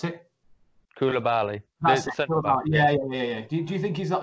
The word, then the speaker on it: Koulibaly: God, how do you pronounce his name? Koulibaly. Yeah, that's the one. Hey, how do you pronounce it? Koulibaly.